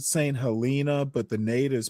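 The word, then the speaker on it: Saint Helena: Some people pronounce it St. Helena, but the natives pronounce it St. Helena.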